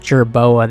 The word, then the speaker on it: jerboa: Antelope uh gerba Gerra okay so they're pronounced jerboa they're these like little rat